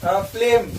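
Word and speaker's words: phlegm: उसके बाद है फ्लेम, तो फ्लेम में जो है जी साइलेंट होगा।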